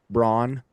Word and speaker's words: Braun: I think I think everyone's shoppable unless you wear number 15 or your last name is pronounced Braun or if you drink a little too much of that eggnog during Christmas.